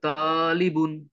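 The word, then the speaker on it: طالبٌ: ইজ a doctor হাজা তালিবুন this is a student হ্যাঁ এই ত তে একটা মাদ হবে আবার বলেন হাজা তালিবুন দিস ইজ এ স্টুডেন্ট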